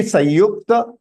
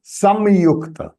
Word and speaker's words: संयुक्त: Sanyukta means it can be Sanyukta, Samyukta. Both are right pronunciation. Why? Because here the Anuswar can be pronounced as half na as well as half ma.